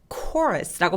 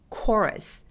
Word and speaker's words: chorus: 그래서 초러스처럼 생겼는데 초러스가 아니라 chorus라고 발음합니다. 얘는 합창단이라는 뜻이죠. 자, 다시 한번 발음해볼까요? 어떻게 할까요? chorus.